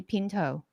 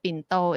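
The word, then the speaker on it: ปิ่นโต: it's like english word i would say pinto i'm not gonna say bin though because when i say binto it's like of course the lunch box so here we go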